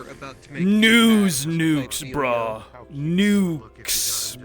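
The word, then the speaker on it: Newkes: Nukes. But it's spelled N-E-W.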